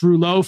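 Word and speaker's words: rouleaux: viscosity of the blood we learn about this roulet formation in medical school I believe it's spelled r-o-u-l-e-u-x um and and we learned about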